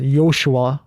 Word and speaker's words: yoshua: nickname was yoshi because my name is pronounced yoshua which is like very difficult to say it also sounds hebrew